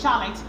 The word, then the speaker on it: Charlotte: Although there are exceptions, like in the word of Charlotte, some people say Charlotte, but it's not Charlotte, it's pronounced Charlotte.